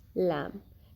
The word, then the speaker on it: lamb: The letter B is usually not pronounced when it is in the end of the word and letter M precedes it, like comb, bomb, thumb, climb, lamb. In all these words, letter B is not pronounced.